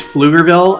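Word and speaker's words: Pflugerville: it was MakerFair and the city is Flugerville and it's spelled with a PF. So it's like a German, you know, Fifer, Fluger, something like that.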